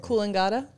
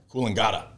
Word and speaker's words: Coolangatta: Coolangatta. Coolangatta.